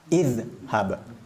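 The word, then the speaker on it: اذهب: kasrah Hamzah wasalnya contohnya ketika huruf ketiganya adalah fathah hab maka dibaca idhab kasrah Hamzah wasalnya qra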